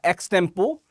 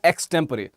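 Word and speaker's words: extempore: एक शब्द आता है एक्सटेम्पो या एक्सटेम्परे, दोनों ही प्रोनाउंसिएशन इसके देखने को मिलते हैं, तो माफ कीजिएगा, आशु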